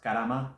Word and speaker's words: karma: the difference between and it's pronounced Karama by the way I was taught that by uh Indian friend of mine we just use the r to romanize it but it's an actual